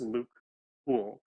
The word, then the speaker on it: Luc Houle: So it's French, but it's actually just Luc Houle.